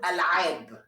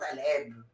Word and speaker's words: Al3ab: So yeah, Vclo, it's called Al3ab. You see the you have to say it like this, alright, not Al3ab.